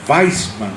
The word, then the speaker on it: Wiseman: Weisman. Se escribe Wiseman, W-I-S-E-Man, Wiseman, Weisman.